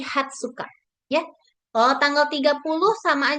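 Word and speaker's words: 二十日: Jadi bukan tanggal 20 itu bukan Niju, Niju Nichi, bukan Niju Nichi, tapi Hatsuka.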